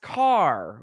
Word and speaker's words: Kaehr: Thanksgiving that was Carr we found out it is pronounced car K AE HR pronounced car down there uh thanks so